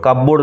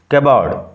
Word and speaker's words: cupboard: উচ্চারণ লক্ষ্য করো, কাপবোর্ড নয়, কাবার্ড, কাবার্ড।